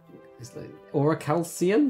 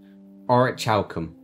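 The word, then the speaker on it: orichalcum: Auracalcium? No, it's no I in it. Define. Golden colored bronze oil alloy. But how do you say it? How do you pronounce it? Here we go, this tummy. Aurichalcum.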